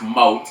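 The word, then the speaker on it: Moate: my name is Mo I had told him that you know how to say my last name I told him like my last name is pronounced Mo m o a t e mo and I remember you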